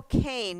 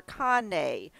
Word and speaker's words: Cane: Now, I don't know if it's pronounced Cane or Kane because that it Funny. is it It's Kane? Mondo Cane. Mondo Mondo. Cane, okay, because that it means a dog's world, like canine, as in canine, a dog's world.